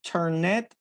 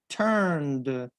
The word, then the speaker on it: turned: the heating down okay turned turned do not pronounce tournet tournet no turned okay good thank you very much luciana now